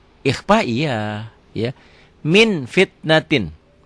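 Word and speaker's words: مِنْ فِتْنَةٍ: Min fitnatin, dibacanya jadi min, bunyi m, tapi min bibirnya kebuka sedikit, bindeng tetap. Min fitnah.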